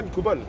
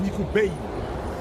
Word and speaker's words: Nicobal: D'ailleurs, tu savais que Nicobal ne se prononce pas Nicobal. C'est Nico Bale.